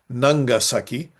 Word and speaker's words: Nagasaki: Nagasaki or as it is sometimes pronounced though not written Nangasaki is divided into two parts.